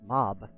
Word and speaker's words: mauve: yes, and you get to hear the argument over it's pronounced mauve or mauve. No, it's pronounced mob.